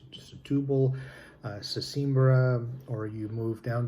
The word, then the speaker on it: Setúbal: You go more to the south to the Alentejo region, or Setúbal, or it's pronounced Setúbal, Sesimbra, or you move down to the south